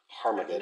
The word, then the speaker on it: Armageddon: Okay, Armageddon, because it actually has that sound at the beginning of it in the original. I've never noticed that before. But there is a hard breathing mark, so it's Armageddon.